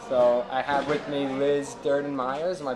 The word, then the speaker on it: Liz Durden-Myers: the episode hi so I have with me Liz Durden Myers am I pronouncing it right yeah that's correct okay awesome